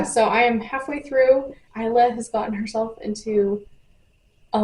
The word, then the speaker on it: Isla: The audiobook says Isla, spelled like isle, like an island, but with an A. So I keep calling her Isla. It's Isla.